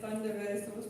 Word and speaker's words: LONDON-KARAI: And I'm going to pronounce the name of the dance right this time, and it's LONDON-KARAI.